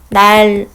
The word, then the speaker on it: 난로: 그 다음에 역행적 유음화 같은 경우를 한번 또 보면은 난로 같은 경우는 우리가 날로 이런 식으로 발음을 합니다. 이것 같은 경우도 뒤에 있는 리을의 영향을 받아서 앞에 있는 니은이 리을로 바뀌었기 때문에 이렇게 반대로 가죠.